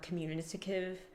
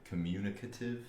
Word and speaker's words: communicative: But yeah, we're he's very more considerate and more communisticative. Um, is that how you say it? Commu communic communicative. Communicative. Communicative. Communicative. There you go.